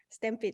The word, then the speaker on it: Stampede: Do I pronounce it right? Stampede? Stampede, yes, correct.